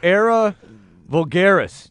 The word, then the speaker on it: Era Vulgaris: clear all right the new album is called era vulgaris did I pronounce that correctly yeah yeah yep I I